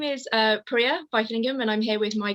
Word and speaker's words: Vaithilingam: just quickly checked through my surname, but you pronounced it beautifully, so thank you. Excellent. Okay, so my name is Priya Vaithilingam, and I'm here with my colleague Tasha.